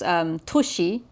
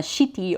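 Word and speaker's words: 都市: So notice how this toshi, this kanji compound that ought to be pronounced toshi, it has the katakana shiti over it for basically city.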